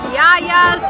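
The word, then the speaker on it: yiayia: some delicious food from Yaya's kitchen Yaya and and how do they spell that y i a y i a yaya y it's Greek for Grandma yeah yep so we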